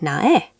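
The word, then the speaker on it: 나의: So nai, meaning my, sounds like nae.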